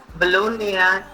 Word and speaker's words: Bologna: You have this sandwich, which is pronounced as Bologna in Italy, and it comes from Italy. That is a city called Bologna. Bologna, that's how they pronounce it, but the Americans pronounce it as bologna.